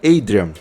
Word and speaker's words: Adrian: Aliás, eu nem falei o nome dele, é o Adrian, ou melhor, a pronúncia correta seria Adrian.